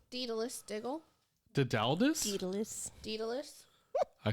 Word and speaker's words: Daedalus: Did you call him Dedaldus? Daedalus Diggle.